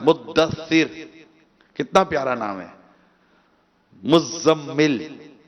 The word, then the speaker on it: مزمل: مزمل، زا پر بھی تشدید ہے، میم پر بھی تشدید ہے. اب جس کا نام مزمل ہے وہ خود بیچارہ اپنا نام نہیں لیتا، تو آپ کا نام ہے مزمل.